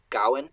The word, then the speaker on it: Gawain: But when we're using alliteration, I try to stress it on Gawain, because it's usually the first stress syllable that you're alliterating on. And so that tells me that it should be Gawain and not Gawain.